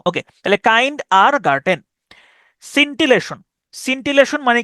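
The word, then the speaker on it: scintillation: এটি আই ও এন সিনটিলাসন আমি এভাবে উচ্চারণ করতাম এস সিন্টি সিন্টিললাসন আমি এভাবে উচ্চারণ করতাম সিনটিলাশন সিন্টিলেশন সিন্টিলেশন মানে হচ্ছে দেখবেন ওই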